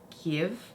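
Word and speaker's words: GXVE: palette okay oh okay i just saw it's pronounced give it's pronounced give okay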